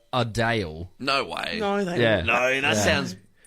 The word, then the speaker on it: Adele: celebrities okay wow so so Adele right she would rather people call her adale no way no they